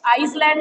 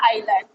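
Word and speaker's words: island: Forum for Indian या India Pacific आइलैंड, ये लिखा जाता है एस, बट एस साइलेंट रहता है। ये आइसलैंड नहीं होता है ना, इसका प्रोनाउंसिएशन होता है आइलैंड।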